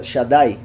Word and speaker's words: Shaddai: aquí donde dice pechos, aparece como Shedei. Pero los que ya han visto esta palabra en otras ocasiones, han visto que esto también se pronuncia Shaddai. Y Yeshdai también.